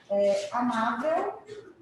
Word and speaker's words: amável: Em amável, qual que é a sílaba tônica de amável, gente? Ma. Oxítona, paroxítona ou proparoxítona? Paroxítona. Por que ela é uma paroxítona? É a última sílaba que é a tônica?